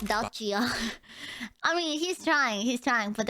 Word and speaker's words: Dacia: No, not the car company. It's Dacia.